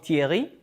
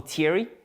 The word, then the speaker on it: Thierry: And I went from being called Thierry, or Thierry, as English speakers would pronounce it, to being called.